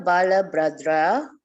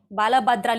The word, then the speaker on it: Balabhadra: Brother Balabhadra, I hope I said it right. Brother Balabhadra, yes.